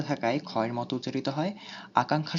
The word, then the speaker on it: আকাঙ্ক্ষা: আকাঙ্ক্ষা শব্দে ব্যঞ্জন বর্ণের সাথে থাকায় ক্ষয়ের মতো উচ্চারিত হয়।